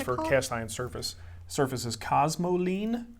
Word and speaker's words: cosmoline: cast iron surface surfaces cosmoline cosmos spelled like it sounds uh ine cosmo cramer and you have